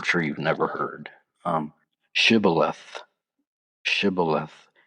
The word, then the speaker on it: shibboleth: But the Ephraimites, due to their dialogue dialect, they could not pronounce the sh sound, and they would say sibboleth instead of shibboleth. This identified them as an enemy, and they were killed on the spot. And there was a resulting 42,000 casualties. So, if anybody ever ask you to pronounce shibboleth, make sure you throw that sh in there.